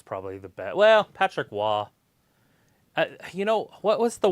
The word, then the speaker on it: Roy: yeah but it is it's spelled Roy but it's wah wah Patrick Wah that's my favorite but